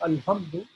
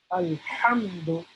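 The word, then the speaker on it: الحمد: This is a special type of H, again, from the throat. So Alhamdu. Alhamdu. So we are not, it is not correct to say Alhamdu.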